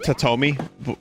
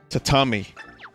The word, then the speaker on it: tatami: mats oh thanks toad it's not tatomi what is it what did i say uh to say it wrong tatami totomi was cats exist